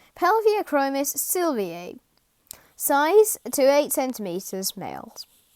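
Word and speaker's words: Pelvicachromis sylviae: easy the yellow crib scientific name pelvic chromis sylvie pronunciation pelvic achromis sylvia size to eight centimeters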